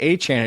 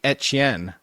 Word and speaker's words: Etienne: annoys me is that if you're actually going with like the Cajun, it shouldn't even be Etienne, it should be Etch-Yen. Like that's how it should be pronounced.